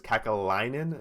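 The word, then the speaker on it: Kekäläinen: And I like how you give it to me because Kakalainen, is that how you pronounce it? Yeah, yep. Gives Good job, Jarmo Kekalainen.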